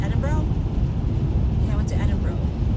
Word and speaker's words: Edinburgh: Because Adam used to make fun of me because I would say Edinburgh. So he'd be like, it's Edinburgh. I would pronounce it the way it's right, the way it's written phonetically.